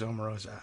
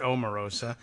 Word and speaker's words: Omarosa: Or was it, who said it was Omarosa? Yeah, it was Rebecca. Rebecca Romans, thank you very much. She pronounces it Omarosa.